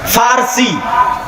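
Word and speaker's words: فرس: আরেকদিকে পারস্য পারস্য মানে ফারসি বাংলায় বলে প কিন্তু ওটাই আরবিতে আসে ফারসি ফুরস কেন আরবিতে পর কোন উচ্চারণ নাই আরবিতে পর কোনো উচ্চারণ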